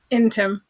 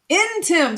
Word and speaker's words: Ntim: Ntim. Ntim. So it is Ntim. I didn't know if the N was silent.